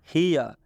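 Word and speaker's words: here: हियर हियर में ई का उच्चारण ई की मात्रा से हो रहा है। हियर में ई का उच्चारण ई से हो रहा है, मतलब ये ई की मात्रा से हो रहा है, ये ई की मात्रा है। और लास्ट में ये जो ई है ये साइलेंट है, इसका कोई उच्चारण नहीं होगा।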